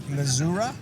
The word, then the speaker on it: Missouri: get my plantation right mizura or Missouri I mean it depends on your your your your your slang or your your tongue pronunciation but I say Missouri okay all right so